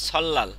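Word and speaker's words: 설날: হইছে এবার সল্লাল সল্লা কেন সল্লাল হইছে এই যে রিউলের পরে নিউন আসছে দেখছেন স্যার এই রিউলের পরে নিউন আসছে এই যে রিউলের পরে নিউন আসলে লয়াল উচ্চারণ হবে এখানে উচ্চারণ হবে সল্লাল উচ্চারণ কি সল্লাল সল্লাল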